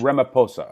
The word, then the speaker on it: Ramaphosa: so your Prime Minister is at Ramaphosa Cyril Ramaphosa trip you state president but yes Rama poor sir you don't pronounce the aged Rama pasa okay so Cyril Ramaphosa he referred to the taking of of land